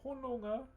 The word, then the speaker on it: hononga: So hononga, H-O-N-O-N-G-A. So you spell it hononga.